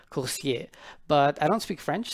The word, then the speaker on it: Coursier: now first and foremost course here means career in french why french well because the developer is french and so the correct pronunciation would be corsier but i don't speak